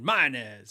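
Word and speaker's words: Mayones: how do you saying they said mine is and I go okay that's how you say it because it's in the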